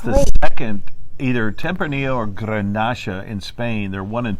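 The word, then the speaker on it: garnacha: yeah and it's the second either tempranillo or grenache in spain they're one and two yeah they're like it's either the first or the second most grown grape in all of spain and uh it's pronounced granasha in spain but it's the same grape and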